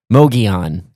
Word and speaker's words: Mogollon: Moian.